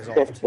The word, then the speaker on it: Zoloft: pronounce that T, I guess, huh? Yeah, Zoloft. Yeah, you don't have to. Zoloft? Ah, All right. I always thought it was a silent T.